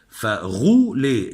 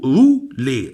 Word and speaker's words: rouler: طب الغين اللي أنا بقولها دي في الحرف الأغ دي أنا بنطق لك اللكنة الباريسية اللي هم دايما بينطقوا بالأر أغ، فغولي. إنما لو ما نطقتش الأغ بقول رولي. رولي.